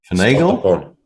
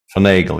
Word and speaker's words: finagle: Now I've forgotten how that word is pronounced again. Finagle? I'm gonna Google. At some point I did Google and I was very, very clear on how that word is pronounced, but... Finagle, yeah.